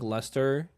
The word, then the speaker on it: Lustre: It's luster. Yes, luster.